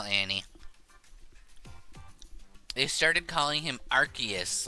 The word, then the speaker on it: Arceus: So, do you pronounce it arc or arse? I think legally, the answer is arc.